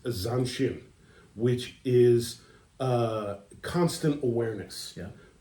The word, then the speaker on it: zanshin: Forgive me if I mispronounce this, Okay. but I believe it's pronounced zanshin, which is constant awareness.